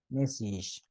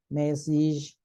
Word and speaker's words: message: But when you have age and you have more than more than two syllables, then the A is pronounced like E. So you say message. Yes, message. So you say package. Yes, message, package. Yes. And then we say luggage. Yes, luggage. Yes. Message, package, luggage.